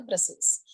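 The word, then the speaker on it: Brussels: Pronunciation ध्यान रखना है आपको, प्रोनाउंसिएशन होगा इसका ब्रसेल्स। तो इट इज the capital of Belgium.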